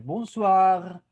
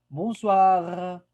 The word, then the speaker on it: bonsoir: Ajá, ocupamos escuchar esa R al final. Bonsoir. Bonsoir.